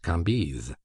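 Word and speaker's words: Cambis: was pronounced Levi Kambis C A M B I S pronounced Kambis these antique visages and these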